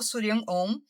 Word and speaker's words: Shuryan Om: do meu nome surian on eh surian on é o nome de uma mentora minha uma mentora siriana eu sei que que se fala de uma maneira diferente e se escreve mais ainda então eu vou soletrar